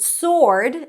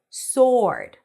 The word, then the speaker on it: sword: And the word sword is pronounced without the W. Sword, sword.